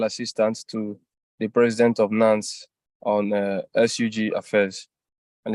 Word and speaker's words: NANS: And we are joined by comrades from NANS, the National Association of Nigeria Students. Did I say it correctly?